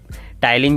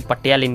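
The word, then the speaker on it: Ptyalin: मैं छोटा था उसको पटियालिन कहता था, पटियालिन। और जब मैं 11th में गया तो मुझे पता लगा इसको टाइलिन कहते हैं, पी साइलेंट होता है।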